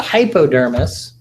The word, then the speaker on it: hypodermis: a region called the hypodermis and I'm kind of stressing the hypo part of that pronunciation which is down here